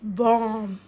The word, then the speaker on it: bomb: The answer is bomb.